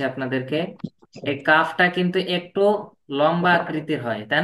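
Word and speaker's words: ل: এখন আমি দেখাচ্ছি আপনাদেরকে এই কাফটা কিন্তু একটু লম্বা আকৃতির হয় তাই না এভাবে আর লাম একটু গোল আকৃতির ঠিক আছে আর কাফের মাঝখানে একটা এস এর মত একটা চিহ্ন আছে কিন্তু লামের কোন চিহ্ন হবে না আপনারা পার্থক্যটা বুঝতে পারছেন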